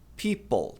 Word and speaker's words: people: O plural mais comum é a famosa palavra people. Tem que pronunciar o L também. People.